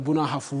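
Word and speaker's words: Brong-Ahafo: This is what it looked like, and we called it the Bronga Hafu, even though I like to call it the Bono Hafu region for right pronunciation's sake.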